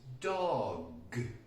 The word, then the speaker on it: dog: geography back to pronunciation the G is actually sometimes a very difficult sound to produce for Spanish people so I hear things